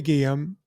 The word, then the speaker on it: Guillem: And if you ever go and look up Sylvie Guillaume, Guillaume is spelled Guillem.